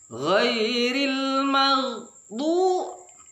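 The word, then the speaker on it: غير المغضوب: alif lam qamariyah, lamnya dibaca ghairil maghdu, mengalir saja, jangan magho, jangan dikolkolahkan, karena huruf kolkolah hanya 5, ba, ju, di, toko, ba, jim, dal, to, qaf. Oleh sebab itu ghairil maghdu, ambil pertengahan pengucapannya, jangan terlalu keras.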